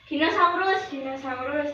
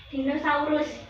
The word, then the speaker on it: dinosaur: Iya bacanya Dinosaurus. salah tetot. Yang benar itu dinosaur. Coba tiruin dinosaur.